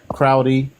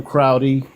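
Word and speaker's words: Crowdy: Isn't that Crowy? William Crowy. Saunders Crowy. Isn't that the pronounce? That's That's the That's the way to pronounce it. Yeah. William Saunders Crowley.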